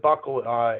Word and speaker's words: buccal: So the word buccal in medicine is for the inside of your mouth. It's spelled a little different than the one that's on your belt, but it's referred to as a buccal swab.